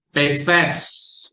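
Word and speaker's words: πίστις: Pistes atau ini. Bacanya adalah pistes. Jadi bukan pistis ya. Pistes gitu.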